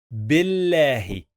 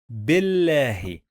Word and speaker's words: بالله: And then Billahi. Billahi. Pay attention. We have here Alif, Bil. And here we have this lam, but we don't pronounce this lam.